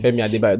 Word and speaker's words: Femi Adebayo: Femi Adebayo. Don't murder someone's name. I said it right now.